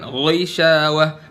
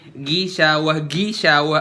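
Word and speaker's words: غِشَاوَة: sam'ihim wa ala absarihim Ghishawah tipis, bukan ghishawah. Mentang-mentang gha dibacanya u. Jadi kalau misal kasroh dia jadi tipis, dibaca gimana? Ghishawah. Dengar ya? Ghishawah. Makhrajnya masih sama, nggak mengubah dia jadi gishawah atau ghishawah.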